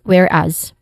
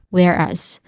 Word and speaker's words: whereas: So yeah for pronunciation there is two distinct sounds for the word starting with where which is the stressed syllable. Here it has a short e sound and then as which has a short a sound and a buzzing sound at the end despite the spelling where it is where it uses the letter s.